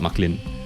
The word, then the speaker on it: Marklin: You have to pronounce the R, right? Marklin. Yeah. So technically it's Mark plus Lin. Marklin. Yeah. So it's like Franklin but Marklin.